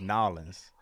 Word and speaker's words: New Orleans: It's not even an R in it. It's not Narland. It's Nolans. New Orleans.